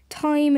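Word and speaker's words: thyme: saying the word time time is also the pronunciation of t-h-y-m-e a spice used in cooking I hate myself get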